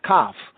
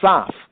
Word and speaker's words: Kaf: At the 81st verse, going 8 verses down, we have Kaf, not Saf. The C was not pronounced as an S sound. That's only in later day confusion English as Kaf.